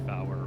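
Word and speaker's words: fower: or air traffic controller, say tree, Fowler, or Fife. Even though by the book that is the correct radio pronunciation of 3, 4, and 5.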